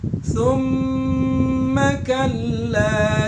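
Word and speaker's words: ثُمَّ كَلَّا: Summa kalla itu harus ditahan karena di situ gunah mim musyaddadah, gunah. Ada gunahnya, dengungnya.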